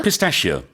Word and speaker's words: pistachio: Pistachio. 약간 다르죠. 피스타치오라고 우리는 하지만 영어로는 pistachio. Yeah, it's a very smooth. It's almost like it's S-H-I-O, Yeah, pistachio.